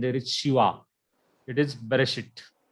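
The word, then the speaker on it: בְּרֵאשִׁית: It is Bereshit. Bereshit. So this Shiva is vocal and its pronunciation is B, a small e.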